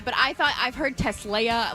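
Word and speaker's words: TeSlaa: Yeah, it was annoying me how they were saying his name because it should be Tesla, but it but but they weren't saying they were saying it almost with a shh sound like the tla.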